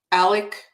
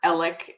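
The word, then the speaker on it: Alex: is absolutely fascinating um Alec or Alec as it's pronounced down there in the in the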